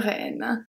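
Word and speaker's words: renne: Une reine, un reine. Same pronunciation, different gender.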